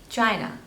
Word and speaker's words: China: this one is China stress is on the first label China China next is Ivory